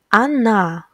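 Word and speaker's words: она: he Anna Anna she pay attention that the stress falls on letter Ah that's why letter O will be pronounced like ah as well Anna Anna and the last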